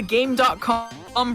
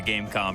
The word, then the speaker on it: Game.com: I for one can't wait for the Gamecom runs by Flying Fox next FF. Is it pronounced Gamecom? When you turn it on, it goes Gamecom active. So that's my assumption.